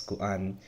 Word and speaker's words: kuan: is kuan, which, again, you see the two vowels, right? That means there's a glottal stop in between, so you have to pronounce each of those vowels, kuan.